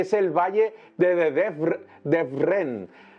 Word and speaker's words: Devrent: Por ejemplo, hay un valle muy divertido que es el valle de Devrent, Devrent. Tengo que pronunciarlo en turco porque me cuesta un poquito, el valle de Devrent